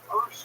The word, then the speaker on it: Peirce: Now, first of all, I'm always puzzled by why do we pronounce his name Peirce when it's spelled Pierce? That's a good question. I don't know the answer to that. I know that that's the way it used to be pronounced, so we'll pronounce it like it did.